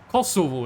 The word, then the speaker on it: Kosovo: Kosovo is how we say it in Norwegian. So, I'm going to say it like that.